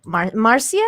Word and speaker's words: Marcia: lady here like this this marcia is that is that how you say her name yeah marcia marsha has